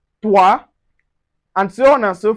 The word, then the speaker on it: toi: So anywhere you see o i it gives us wa wa sound just like in moi toi and so on and so forth.